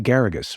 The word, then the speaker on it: Geragos: Send the comments to Geragos, rhymes with asparagus.